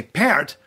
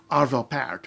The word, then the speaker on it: Arvo Pärt: say part or appeared and if you say part well that's okay that's just incorrect and somebody's probably gonna call you on it if you say parrot a lot of people will think you're right